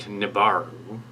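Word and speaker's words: Nevarro: little wrench on on the Navarro which sounds like nevaro it's spelled differently anyway so um Nibiru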